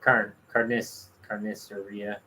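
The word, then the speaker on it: carnicería: Our carniceria. Carniceria. I don't remember where. Carniceria. Carniceria. That's right. That one is said that way. I never remember where the written accent is on that one.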